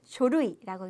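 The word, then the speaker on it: 書類: 자 쇼이 서류라는 표현 발음 조심하셔야 돼요 쇼루이라고 읽는다는 거 노쇼 그 서류 고에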